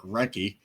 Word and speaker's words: Recchi: 7-time Recchi. All-Star, ranging from 91 to 2000. Yes, apparently so forgotten that his name is actually Mark Recchi. I thought you pronounced the H.